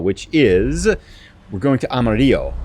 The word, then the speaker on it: Amarillo: we're going to Amarillo, or Amarillo, I think is how you say it in Texas. You don't say it the Spanish way, right?